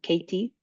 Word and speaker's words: Kati: And I see one hand from Katie. Oh, Kati, I don't know how to pronounce it. Yes, it's Kati.